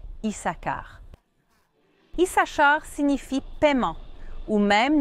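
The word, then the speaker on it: Issachar: Mais en hébreu biblique, la prononciation correcte est Isakar.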